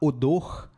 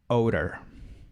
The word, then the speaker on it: odor: Se você estiver falando em inglês e falar odor, ninguém vai te entender. A pronúncia é odor.